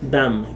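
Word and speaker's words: דם: En la palabra hebrea 1818, o sea 1818, está pronunciada dam.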